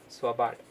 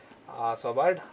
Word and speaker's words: Svalbard: Himadri is in Svalbard. This L is silent over here. Svalbard. Svalbard, Norway. Yeah, the Svalbard, Norway.